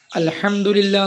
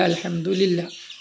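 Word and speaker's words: الحمد لله: മർഹമത്തും നൽകട്ടെ എന്ന് പറഞ്ഞാൽ അർത്ഥമാക്കുന്നത് ഒരാൾ തുമ്മി കഴിഞ്ഞാൽ അൽഹംദുലില്ലാഹ് എന്ന് പറയും അൽഹംദുലില്ല അല്ല അൽഹംദുലില്ലാഹ് അത് കേട്ടു കഴിഞ്ഞാൽ എന്താ പറയേണ്ടത് ആളുകൾ പറയും അല്ലഹമുക്കള്ളാഹമുക്കള്ളാ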